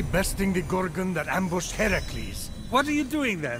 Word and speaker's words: Heracles: Phoenix, after boldly besting the Gorgon that ambushed Heracles. What are you doing there? That thing with your voice? Heracles? Yeah, that! That is how it's supposed to be pronounced.